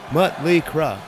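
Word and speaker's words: Mötley Crüe: call ourselves mly crew we put some umls in there because we thought it made us look European we had no idea that it was a pronunciation thing when we finally went to Germany the crowds were chanting mut mutle we couldn't figure out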